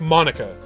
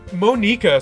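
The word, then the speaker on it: Monika: so it is pronounced Monica because that's not very Japanese sounding name and moneka sounds like how would it be if it was a Japanese name right so it is Monica okay all right the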